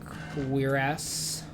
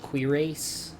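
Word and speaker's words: cuirass: Uh, I'm not going to wear the iron quirs, which by the way is how that word is pronounced. I always called it quirase when I was a kid.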